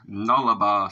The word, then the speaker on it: Nullarbor: This is Brett Bridger 362's request of Nullarbor song. That's how it's pronounced. It's a Latin.